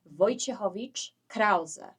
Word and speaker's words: Wojciechowicz-Krauze: So it's pronounced Wojciechowicz-Krauze. So the second part is very much German because my husband apparently has a German heritage, but he is Polish.